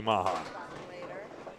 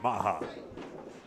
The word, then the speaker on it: Maha: Next bowlers up, Mark Milliken and Louis Maha. The R is silent, Maha.